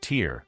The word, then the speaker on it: Tyr: They had their own war god, Tyr, pronounced Tyr, a fierce one-handed deity from Norse mythology.